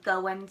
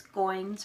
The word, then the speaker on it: Goins: I was saying Goins, and it's not. It's Goins, rhymes with coins.